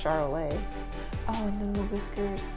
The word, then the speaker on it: Charolais: I assume they're French cows, so I'm thinking it's Charolais.